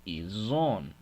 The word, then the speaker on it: ils ont: Por eso también decimos ils ont. Oui, et elles ont. Mettez attention aussi dans la prononciation. Ils ont et elles sont. Entre ils ont, on va faire vivante la lettre S. Z, oui.